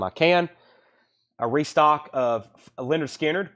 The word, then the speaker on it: Lynyrd Skynyrd: can a restock of Lynyrd Skynyrd pronounced Leonard Skinner 38.99 for the money there's a better version we've got them for 70.